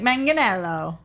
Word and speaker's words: Manganiello: now we're gonna say it wrong is it Manganiello or Megan okie purely honest heart G hard G like Manganiello sailor said mention ello let me 2nite you